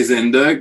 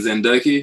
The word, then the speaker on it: Zendoke: exciting yeah so zendoke is it zendoke or zendoki uh how am i pronouncing it uh well i say zenderk but i don't mind zendoki i taught myself spanish once so zendoki makes more sense but it was always